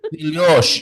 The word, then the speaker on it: filhos: Filhos. Filhós, Yes. and Yeah. then filhos, Yeah. filhos. You Yes. stress the first part because you have two syllables. You have to stress fi, and you say filhos, Filhos.